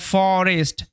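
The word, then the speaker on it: forest: একটু ব্যতিক্রমী শব্দ, এটা ফরেস্ট। ও এর শর্ট সাউন্ডই হবে, লং সাউন্ড হবে না।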